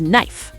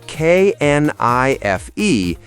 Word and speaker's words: knife: The most famous example is knife. So we write K N I F E, but we say knife. Exactly. Knife. The K is completely silent.